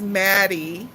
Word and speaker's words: Madi: YouTube the book cave I remember she's Madi because that rhymes with Patti and there would be